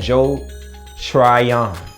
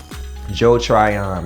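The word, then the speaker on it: Joe Tryon: it oh oh and joel try on i gotta say it right joe trion man joe trion this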